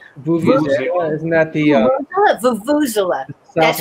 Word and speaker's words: vuvuzela: Vuvuzela. Okay, Vuvuzela. Vuvuzela. Okay, that's how you pronounce it.